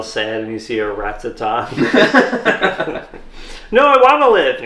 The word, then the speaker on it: Rattata: There was Pokemon trainer Joey, and he was in the game, big obsessed with Rattatas.